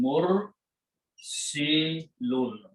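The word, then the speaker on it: مرسلون: So the one who is sending is made by putting a meme in the beginning and pronouncing mur si lun. Okay.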